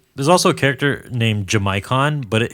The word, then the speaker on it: Jamaican: character named jamaicon but his name is spelled like Jamaican like a person from Jamaica did you say jamaicon jamaicon yes it's spelled j m a a i c a an it's spelled like Jamaican but they call him jamaicon I don't know why